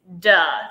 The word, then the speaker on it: Da: Some people call it the Beauty League, but it's duh.